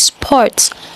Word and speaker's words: sport: In English, it is pronounced sport. Just like most of the words that I mentioned before, the R is silent. The R is silent, so it's sport, sport.